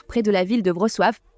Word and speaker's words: Wrocław: Dans un coin isolé de la rivière Oder, près de la ville de Wrocław. Ce n'est pas Wrocław, c'est Wrocław. Wrocław, comment on dit ça, les gens? Wrocław, ce sera Wrocław, et puis c'est tout.